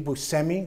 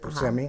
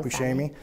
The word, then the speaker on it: Buscemi: my I love blackout Steve Buscemi that's how you pronounce it but semi not Bechet me it's friend of mine